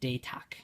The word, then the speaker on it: Datach: So, sorry, Datach, right, is the way to pronounce it.